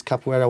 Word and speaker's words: capoeira: i thought how do you how do you pronounce it properly so i went to these capoeira websites where they teach you how to say